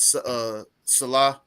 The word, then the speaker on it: Saleh: I know I keep can't getting pronounce his last Salah. It's Salah, Robert Salah.